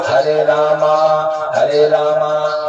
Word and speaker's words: राम: वाला करो 10 हरे राम हरे राम राम राम हरे हरे हरे कृष्ण हरे कृष्ण कृष्ण हरे कृष्ण है हरे राम आज बो हरे रामा हरे रामा रामा नहीं है राम है कृष्णा हरे कृष्णा कृष्णा